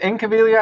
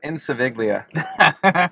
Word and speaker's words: Incaviglia: Is it Incaviglia? I thought it was Insaviglia. Is it not? Incaviglia. Incaviglia. Yeah. I've been pronouncing it wrong all these years.